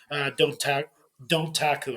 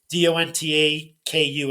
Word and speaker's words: Dontaku: It's from the NJPW Don't Taku. I can't even pronounce. It's Dontaku.